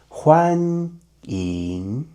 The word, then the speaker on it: 欢迎: Next, we try this first tone and second tone. Da, da, da, da, da, da. Good. Look at this word. 欢迎, 欢迎, 欢迎.